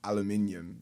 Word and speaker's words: aluminium: it is 4 syllables.